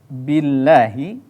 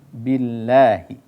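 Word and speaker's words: بِاللَّهِ: dalam pembacaan tersebut kemudian kita baca Billahi itu juga harus diperhatikan kasrahnya harus sempurna penyebutannya Billahi nah ketika Billahi itu adalah dibaca tarqiq Dibaca tipis dan juga ketika membaca Hi itu juga harus disertai dengan jelas karena ini hak yang keluar dari tenggorokan paling bawah kemudian sahabat mengaji yang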